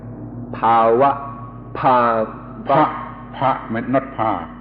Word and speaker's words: bhava: pop blue top this this word that I pronounced bhava is spelled BH a VA and my pronunciation has been corrected to power ha ha ha McNutt